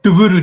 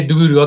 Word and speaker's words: Duvvuru: So did I say the how do you pronounce the surname? I said Sirisha Duvvuru. Duvvuru. That's what I said. Yeah, Duvvuru.